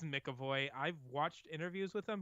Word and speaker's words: McAvoy: oh that makes sense by the way it's James McAvoy McAvoy no it's Mickey boy I've watched interviews with